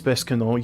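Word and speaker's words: Besançon: It is Bescanon.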